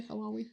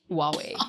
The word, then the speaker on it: Huawei: How do you say Hawaii? Huawei. Huawei. I had to pull but a out Hawaii the phone might be a thing, you know?